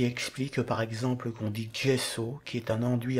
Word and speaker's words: gesso: Et de même pour les prénoms italiens comme Giovanni qui s'écrivent avec un G mais se prononcent DG. C'est ce qui explique par exemple qu'on dit gesso qui est un enduit à base de plâtre.